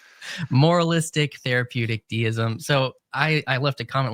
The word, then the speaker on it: moralistic therapeutic deism: videos you released around moral therapeutic deism. Moralistic therapeutic deism. Okay, don't drop any of the syllables. It's a full tongue twister. Moralistic therapeutic deism.